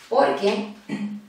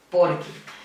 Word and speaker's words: porque: Porque junto y sin tilde.